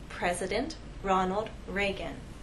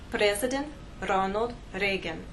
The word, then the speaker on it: Ronald Reagan: the correct pronunciation is President Ronald Reagan we have ours here and here if I take my tongue and touch some part of the roof of my mouth this name will now